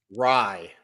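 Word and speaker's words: Rai: How do you say his last name? Rye. Fuck. It was a coin flip. It was a coin flip. yeah, like rye bread.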